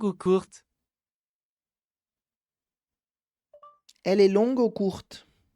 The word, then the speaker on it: court: Se não, seria long ou court, tá? Então, long, somente sem o final, sem a pronúncia do G, e court, sem o final da pronúncia do T, d'accord?